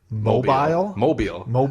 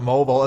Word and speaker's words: Mobile: And I always thought it was mobile. So I've been pronouncing it mobile, and then I was watching, I was like, hey, that's how you pronounce it, because Dave said, like, mobile or mobile. Hey everyone, Wedge Antilles with the Rebel Underground correspondent in Mobile, Alabama. It's Mobile. Mobile. And I was like mind